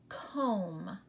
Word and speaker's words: comb: The B is silent. You hear the M.